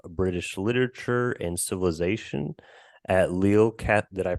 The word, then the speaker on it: Lille: Bray is professor of British literature and civilization at Lille Did I pronounce it right? I know we talked about it in the Lille. Sorry, is that right? Lille Catholic University.